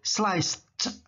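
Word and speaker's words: sliced: prepare prepare menyiapkan Slice nah Slice ujungnya pakai Ed jadi t bunyinya jadi Slice Nah ada ada t di belakang Ini Slice Slice mengiris beef daging sapi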